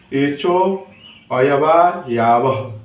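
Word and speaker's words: एचोऽयवायावः: इसका सूत्र हो जाएगा एचो अयवा यावह, ठीक है, एचो अयवा यावह। देखिए, ये लंबा है तो आप लोग खंडित करके पढ़िएगा तो एकदम सही उच्चारण हो।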